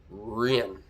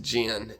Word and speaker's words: Jen: But in American is pronounced Jen, J E N, very simple, but in Taiwan and China is Ren.